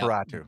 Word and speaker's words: Horseratu: I think I Horseratu? pronounced. Yeah, that one. Yeah, there you go. Yeah. Horseratu. Yeah, like Nosferatu.